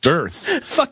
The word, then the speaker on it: dearth: of options she said I believe it's pronounced dearth you right I believe I said you I said you you Boogie I imagine you shot shot the Roderick guys and said I know how to pronounce it no I didn't do that I said I said I'm pretty sure that this is one of those words that has multiple acceptable pronunciation here's the thing well